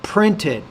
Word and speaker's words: printed: couple problems in there the word printed printed you have to pronounce the pee with a lot more air CU I have two